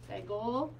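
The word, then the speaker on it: סגול: It's actually eh, like eggs in a little nest. And because his title is Segol, it's easy to remember that he makes the sound eh.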